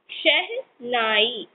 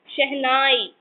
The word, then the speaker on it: शहनाई: SHENAI, शहनाई. This is शह then नाई. शहनाई.